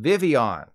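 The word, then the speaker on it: Vivillon: Charlie Hunnam and Rami Malek this is called Vivion and finally we go to the end of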